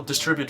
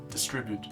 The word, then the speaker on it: distribute: I think we will distribute it later and I ah distribute so this is how it should be pronounced and this is what